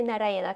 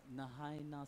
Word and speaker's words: Narayana: peuvent pas prononcer Narayana comme il faut. No. Nahayana, something like that. Nahanina, quelque chose comme ça.